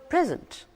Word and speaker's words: present: Notice the stress is on the second half. The word present, P-R-E-S-E-N-T.